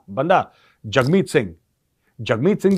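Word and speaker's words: Jagmeet: ये दिखाए है की जगमीत यू नो इस प्रोनाउंस डी जग और राइम्स विथ हग यह देखो मोहब्बत देखो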